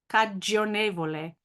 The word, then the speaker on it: cagionevole: Bastevole, biasimevole, passionevole, cagionevole, cagionevole. So that GI is a J sound there. There's no I pronounced.